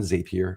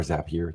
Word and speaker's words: Zapier: is uh mostly focused on zapier or zapier depending on how you want to pronounce it I think it's zapier uh let's let's end